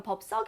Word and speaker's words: 법석: 친해져서 보도 맞아요 여러분 법석 같은 경우는 애가 된 소리가 나자 올바르게 발음하면 은 그렇게 법석 이 됩니다 하지만 기업과 b 육교에